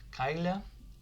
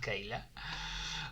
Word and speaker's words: Kyla: So Kayla or Kyla, I don't know how you pronounce Kyla in English. Here in Spanish it's pronounced Kyla, not Kayla.